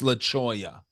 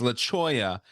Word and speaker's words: Leola: my house it's called it's laoya but it's spelled Leola right so it's laoya and anytime like any